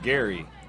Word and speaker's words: Geary: so I came up we said Gary like GA ry like Gary Indiana and I didn't know anybody ever said Geary like a gear on a bike so y'all started Gary yeah yeah I had